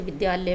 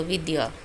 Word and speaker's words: विद्या: से लिखा जाएगा जैसे विद्यालय में। तो इसका उच्चारण क्या होता है? द य विद्या।